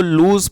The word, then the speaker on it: lose: और ये जो वर्ड है LOSE, इसको लूज़ पढ़ते हैं, कई लोग इसको लॉस पढ़ते हैं, जो कि गलत प्रोनाउंसिएशन है, तो इसको पढ़ेंगे लूज़।